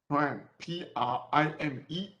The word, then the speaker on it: prime: Prime, P-R-I-M-E. Let me write it again. P-R-I-M-E. Prime. OK，有一撇的叫 prime，没有撇的叫 unprime。很多人会念成 plum，正确的念应该是 prime。OK，prime system。Laser pointer。Okay, this is prime system.